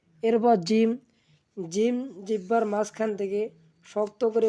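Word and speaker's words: جيم: জিহ্বার আগা সামনের উপরে দুই দাঁতের আগার সঙ্গে লাগাইয়া সুন্দরভাবে উচ্চারণ করব সা। এরপর জিম। জিম।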